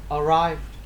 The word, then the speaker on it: arrived: Arrive xong em V xong em D. Arrived. Arrived. arrived. Chữ D đâu có đọc phát âm đâu. Không, ý là không có đờ ra mà em D cái âm nhẹ thôi.